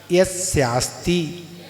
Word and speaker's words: यस्यास्ति: अज्ञानो पास्ति रज्ञानम ज्ञानम ज्ञानी क्षमा श्रेयाः विसर्ग क्षमा श्रेयाः ज्ञानम ज्ञानी क्षमा श्रेयाः ज्ञानम ज्ञानी क्षमा श्रेयाः ददाति यत्तु यस्यास्ति, स्वराघात होगा यहाँ, यस्यास्ति ददाति यत्तु यस्यास्ति ददाति यत्तु यस्यास्ति सुप्रसिद्ध स्वराघात सुप्रसिद्ध मिदम वर्षा विसर्ग वचाः सुप्रसिद्ध मिदम वचा।